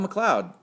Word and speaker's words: McLeod: you know Bob Bob McLeod yeah I always like to say mcli oh eight eleven twelve year old kid trying to you know know how to say his name I was you know